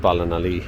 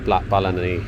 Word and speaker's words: Ballinalee: So and there is the blacksmith of Balan Ali or Bali. Sorry, I was saying the name wrong. Blacksmith of Balani.